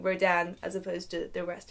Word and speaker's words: Rodin: through the whole thing pronouncing his name I mean I don't even know slightly differently each time I said it often Roden sometimes Rodin I know that it's Rodan but in the moment